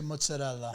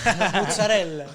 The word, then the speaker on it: mozzarella: trying to ask you is how do you say mozzarella? Mozzarella. Mozzarella. Mozzarella. So it's We cut mozzarella. the A, the final A. Yeah. Mozzarella. Because you know a lot of our content is it's mozzarella, not mozzarella.